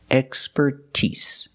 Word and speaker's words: expertise: But with expertise, we put the stress on the first and third syllable. That's the first and the last syllable. Expertise.